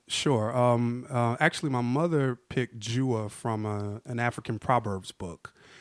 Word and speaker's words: Jua: I mean, most people do hua. Right. Or a lot of people, they'll pronounce it like it's some, Spanish. So it's like hua. They'll do hua.